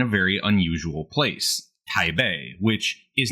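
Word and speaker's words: Taipei: very unus usual place Tai Bay which is not in fact by the way pronounced Tai that's an artifact of an older system of romanizing Chinese anyway Tai Bay is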